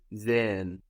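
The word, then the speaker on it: sehen: really slowly or emphatically you're not going to hear that H it's just an extension of the vowel but if somebody pronounces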